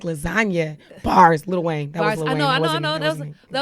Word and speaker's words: lasagna: It took me a while, like lasagna, and I was like, the G is silent.